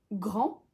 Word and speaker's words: grand: la fin par exemple dans l'adjectif grand le D est silencieux à la forme masculine singulière et plurielle mais quand on ajoute un e à la forme féminine on le prononce donc grand grande et c'est le